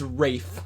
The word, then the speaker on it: Ralph: It's like Ralph just jumps in from the corner. Wait, what's his name? Is it Ralph? it's Rafe. Rafe. It's spelled Ralph, but he goes Rafe.